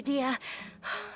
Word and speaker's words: Dehya: This should be old news Dehya. to you. That's how you say her name, Dehya.